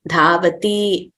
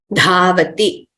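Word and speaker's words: धावति: So we should not prolong them as pathati, likhati, dhavati, nrityati, hasati. That would be wrong. So we have to pronounce them accurately as short letters. Pathati, likhati, dhavati, nrityati, hasati.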